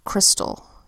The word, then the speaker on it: crystal: Ella says all first syllable Chris second syllable toll say it together fast crystal now looking at the first syllable we have that familiar consonant vowel Y consonant pattern which makes the vowel Y say it's short I sound it or it's all crystal okay and that leads